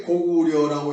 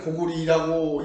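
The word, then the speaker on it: 高句麗: 그런데 지금 자전을 보면은 분명히 나라 이름으로 할 때는 니로 읽어라 이렇게 되어 있습니다. 그러면 역사를 배울 때는 역사는 고구려라고 하고 그러니까 오편은 고구리라고 읽어라 어느 게 맞겠습니까?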